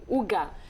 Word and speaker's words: Hug: Hug. Oui, Hug. c'est presque ça. Ils disent que ça se prononce Huga. Huga, OK. Mais avec un petit accent danois, Huga.